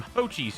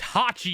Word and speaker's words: Hachi: and music tracks from ho Chi's shop I think I'm pronouncing his name right it's Hachi you uncultured swine Hachi